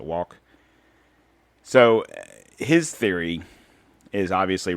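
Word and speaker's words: Wauck: And the writer's name is Mark, forgive me if I'm pronouncing the name wrong, but it looks like Walk. W-A-U-C-K, so Walk.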